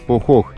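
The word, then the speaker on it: Pojoj: Лагуна, к которой мы приехали, называется Похох. Несмотря на то, что пишется через букву J, местные произносят это название как Похох.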